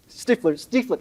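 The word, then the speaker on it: Stiefel: Stifler, thank you.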